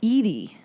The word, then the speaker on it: Edie: There is Edie. Edie. And it's spelled totally different. Eddie. It's spelled the same. Yeah, totally different. What do you mean? Edie is pronounced differently than Eddie.